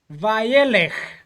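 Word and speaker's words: וַיֵּלֶךְ: Kindly guide us in the pronunciation. Let's repeat after Joseph. Vayelech.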